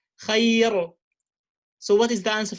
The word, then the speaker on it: خير: So the rule says when the ra with the state of sukoon and it has a ya before, it's preceded by a ya before, a soft ya, harf al-lin, I pronounce the ra lightly and I say خير لا ضير.